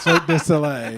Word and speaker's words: Cirque du Soleil: Cirque du Soleil. I know I wasn't going to say it right. Cirque du Soleil.